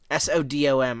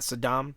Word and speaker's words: Sodom: We've also got Sodom, S O D O M, I think that's how you say it. Sodom, right? Not Saddam. Yeah, Sodom.